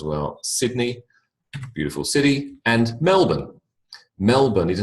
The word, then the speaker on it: Melbourne: knows what it is Melbourne BN all right so you don't have to exaggerate on the o NE because people will look at you very strangely if you do Boston like London at